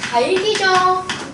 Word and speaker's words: 닭이: 닭이 틀렸지. 달기죠. 왜냐면 이는 의미가 어때요? 없어요. 그럼 앞에 거 남기고 뒤로 넘기는 거잖아.